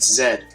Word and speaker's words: Z: like a z but Zed because in lands not of America people pronounce z as Zed and since the ZX